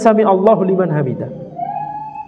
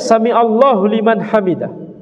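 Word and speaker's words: سمع الله لمن حمده: mendengar orang yang memujinya dan ini bacanya samiallahu liman hamidah salah kalau dibaca samiallahu liman hamidah sebagian Imam ini lahan Jali ya haknya jangan panjang karena kalau panjang salah maknanya menjadi berubah maknanya ya jadi di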